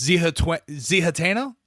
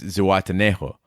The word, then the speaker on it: Zihuatanejo: I believe the two characters actually, Red and Andy, pronounce it differently, but I believe it's Zihuatanejo. Zihuatanejo.